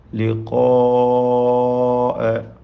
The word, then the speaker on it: لقاء: ലിഖാഅ മദ് മുത്തസിൽ വാജിബ് നൽകി. അലിഫിനെ ദീർഘിപ്പിക്കൽ നിർബന്ധമാണ് 4-5 ഹറക്കത്തിൻ്റെ അളവിൽ. ആ ദീർഘത്തിലും തഫ്ഖീം നിലനിൽക്കണം എന്നതാണ്.